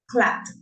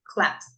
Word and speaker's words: clapped: So for the strong sounds, like in this case p, you pronounce t. Clapped.